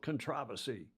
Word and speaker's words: controversy: the quote hosting unquote controversy let pronounce it like the Brits do controversy with several teams with